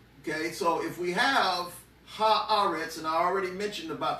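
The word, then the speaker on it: הארץ: for earth in hebrew you say ha you put the hay in front of it and then you say all right so that would be ha ahrets that's earth but then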